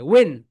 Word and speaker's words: when: Okay my dear soldiers, এখানে এইচ আর N silent থাকে। ওয়েন, ওয়েন, ডাব্লিউ এন, ওয়েন, ওয়েন, সবাই বলো ওয়েন, ওয়েন, WHEN, ওয়েন। কিন্তু এখানে এই এইচ আর ই এই দুইটা কি হয় বলতো? সাইলেন্ট লেখা। এই দুইটার উচ্চারণ এখানে হয় না।